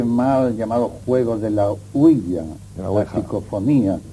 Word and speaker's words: ouija: fenómenos, y sobre todo con la huilla, que es así como se pronuncia. Generalmente se dice ouija, pero la verdad es que oui es sí en francés y así se pronuncia, y ja es ya, que es sí en alemán.